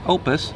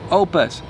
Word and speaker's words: OUPES: So it's pronounced OUPES. I had to ask because I didn't know if it was OUPES, or what, but it is OUPES.